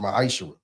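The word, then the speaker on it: ma'aser: Means 10th in Hebrew and is pronounced ma'ashera. 10% of every penny of any increase the Lord gives you.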